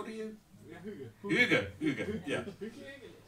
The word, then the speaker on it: hygge: According to Wikipedia, they write behind it how you need to pronounce it, and they it sounded like more of a something like a sumo wrestler said, because it's like yo. It's like how you start the fight.